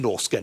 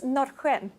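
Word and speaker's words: Norrsken: I should say, actually, it's not pronounced Norsken in Sweden, is it? Exactly. I'm still struggling to pronounce it myself. In Swedish, it's Nordic.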